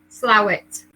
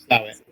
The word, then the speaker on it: Slaithwaite: Marion says it's Slaithwaite. Slowit. Slowit. Okay. Yeah. So, typical Yorkshire. How it's written is not how it's pronounced.